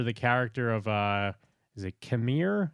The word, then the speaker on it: Qimir: I thought it was a little bizarre, although maybe it's hinting that there's more for the character of, is it Kimir? It's Qimir, who I love from...